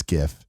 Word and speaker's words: GIF: I grew up in believing it was a hard G. Most people I know pronounce it like that too. Even the White House agreed on pronouncing GIF like gift.